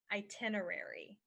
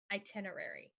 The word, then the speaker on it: itinerary: genre this one is itinerary itinerary itinerary is the plan that you use for travel so to remember it you could say I travel down i-10 rarely unless an itinerary tells me to I travel down i-10